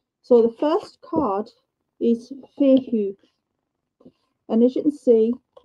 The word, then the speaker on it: Fehu: I am Fehu. And it is pronounced Fehu.